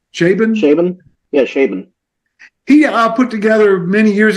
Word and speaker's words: Chabon: I don't know how to pronounce his last name. Chabon? Yeah, Chabon.